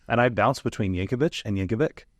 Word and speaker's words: Yankovic: I don't know if I know how to pronounce your last name and I bounced between Yankovich and Yankovic it's Yankovich with a all right right let that let